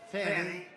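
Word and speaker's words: Fani: after another you had fonnie f a n i which is usually pronounced Fanny she added a little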